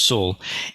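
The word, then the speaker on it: 戌: It's the character sul, pronounced sul.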